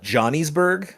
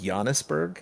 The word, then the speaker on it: Giannisburg: Uh, it's called Giannisburg. Okay. Why is it called Yannisburg? Some might call it Johnny'sburg, but it's pronounced Giannisburg.